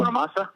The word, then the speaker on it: Bonamassa: Then you had all these, Joe, I can never pronounce his last name. Joe. Bonamassa?